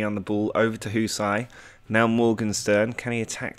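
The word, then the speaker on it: Hysaj: been getting a lot of flack for not pronouncing his name correctly, but apparently it's Husai, and then Murray in goal.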